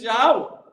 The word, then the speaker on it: Yahweh: It's Yahweh. Yeah, that's God's name. That's how you pronounce it.